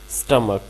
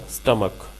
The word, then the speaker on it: stomach: स्टमक, स्टमक, STOMACH, स्टमक, इसको ऐसे बोला जाएगा, स्टमक।